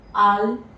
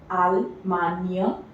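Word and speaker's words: Allemagne: G over there is not pronounced, it is, the sound is near. GN or GNE is always near. So this becomes Almania. Almania, Compania, Montania, Montania, and Espania.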